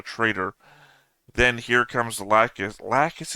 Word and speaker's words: Lacus: then Here Comes lacus lacus is how you say it right uh La yeah I've been going lacis I haven't heard her name enough to have it already pre-prepped and then when I read it it's we're going